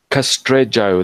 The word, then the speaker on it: Castrejo: Castrejo, that's how you say it. I'm not Spanish. The J is J in Portuguese. It's not H.